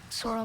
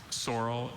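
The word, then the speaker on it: saurel: Sorrel.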